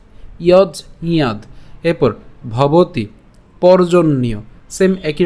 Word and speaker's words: যজ্ঞাৎ: এরপর একই রকমভাবে ইয়জিয়াদ কেন, এই যে এখানে আমরা যদি যুক্ত বর্ণটিকে ভাঙি তাহলে আমরা কি পাই, বর্গীয়াজ হসন্ত যোগ হচ্ছে ইয়, এবং এখানে আমরা উচ্চারণটা কেমন হচ্ছে, ইয়জ এবং ইয়া। কেন ইয়া, কারণ আকার আছে, তাহলে ইয়াদ। ঠিক আছে, ইয়জ ইয়াদ।